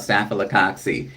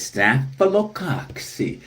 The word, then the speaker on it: Staphylococcus: Here on page number 107, we are talking about Staphylococcus, are among the most common bacteria that affect humans and are routinely found in our environment, including on our bodies.